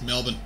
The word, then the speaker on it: Melbourne: oh I'm so happy yeah and they actually pronounce Melbourne correctly it's Melbourne Melbourne Melbourne have you been to Melbourne I've